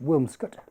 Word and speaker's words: Williamscot: for the village of williamscot locally pronounced wilscot which we will visit